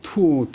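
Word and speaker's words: 拓: 이 탁자가 중국말로 발음은 투오 그러니까 투오 흑.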